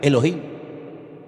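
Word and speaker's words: אֱלֹהִים: Y el primer nombre que conocemos de Dios, si empezamos a leer la Biblia desde el principio es un nombre que se pronuncia Elohim.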